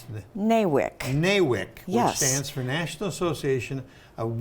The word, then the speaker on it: NAWIC: the name of the group how do you pronounce the nawik neywick stands for national association of women in construction